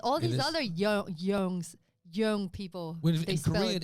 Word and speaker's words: Yeung: is young uh spelled y-e-u-n-g but it's pronounced young i don't know why like young blood yeah like y-o-u-n-g but